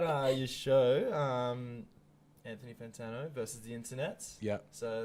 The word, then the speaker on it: Fantano: facing music vessel and we're joined by Anthony fantone ten advanta knows Fantana Fantana I literally got sent had to say